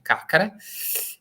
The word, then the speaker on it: Carcare: Ligure che si chiama Carcare spero di averla pronunciata bene peré Qualche volta i Genovesi mi hanno sgridato sulla pronuncia Dovrebbe però dovrebbe essere caccare E quindi lui capisce